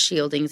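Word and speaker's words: Scyldings: talking about chief shielding the shielding's that's pronounced shielding's even though it doesn't look like it it starts talking about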